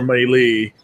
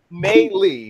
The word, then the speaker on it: Melee: Melee, wow. Melee, wow. But, because it sounded like I said May and then Lee. Fuck you. You said Melee.